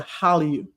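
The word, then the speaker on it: Hallyu: So this love affair that the rest of the world is now having with excuse me Korean culture is called the hallelu almost sounds like hallelujah but hallelu means Korean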